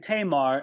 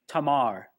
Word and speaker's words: Tamar: was, I've been saying Tamar, and I probably will. It's undoubtedly an incorrect pronunciation. You'd probably say her name Tamar. A's are always pronounced, never A in most other languages, but ah.